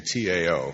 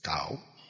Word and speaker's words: Tao: Now the Tao, the Ching, T-A-O, it's pronounced D, but it's Tao.